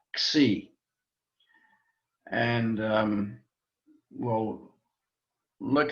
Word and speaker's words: xi: Sometimes we put a little X sound on the beginning just to pronounce it either xi, but it's just really xi.